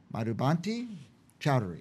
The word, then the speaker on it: Madhubanti Chowdhury: Madhubanti Chowdhury.